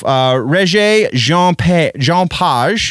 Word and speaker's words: Regé-Jean Page: Regé-Jean Page, I believe is how you would pronounce that in French, from the Bridgerton show